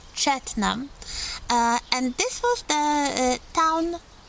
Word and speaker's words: Cheltenham: Another important town in Gloucestershire is Cheltenham, not Cheltenham, Cheltenham, and this was the town, a spa town with some hot springs.